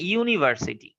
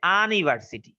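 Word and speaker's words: university: পরে দেখো লেখা আছে ইউনিভার্সিটি, তো এখানে কিন্তু ইউটা হয় না, যে আনিভার্সিটি, এইখানেই লাগছে প্যাচ।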